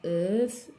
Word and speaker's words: œuf: Viande, poisson, œufs, ou bien œufs, les œufs, comme j'ai dit l'autre fois. Pour un œuf, je prononce le F.